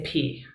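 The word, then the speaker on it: πι: noticed in the video they do say p and if you want to be a good like ancient greek person and not just a fraternity there's nothing wrong with learning greek for a fraternity but you would say p um and i just want to know if professor oakley was correct or not when you said pie i think we all say pie when we're just not thinking about it right like yeah i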